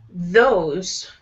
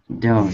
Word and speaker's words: those: And say also those. Those. Those. Oh, hang on, I'll turn my screen on. Okay, so with the TH sound, with TH, your tongue is going to be against your teeth.